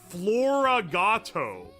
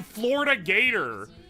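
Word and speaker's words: FloraGato: You're Florato. Wait, I've been calling you Florida Gator like forever. It's Flora, like flower cat.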